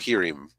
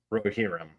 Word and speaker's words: Rohirrim: Yeah, the Lord of the Rings, the War of the I can't pronounce this. War of the that word. Rohirrim. Rohirrim. Okay, War of the Yep. Rohirrim.